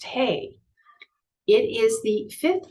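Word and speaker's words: ה: The Hebrew letter assigned to this key is E, or silent H, Heh. It's pronounced Hey.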